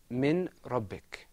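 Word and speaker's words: من ربك: The next example is pronounced min rabbik, without idgham.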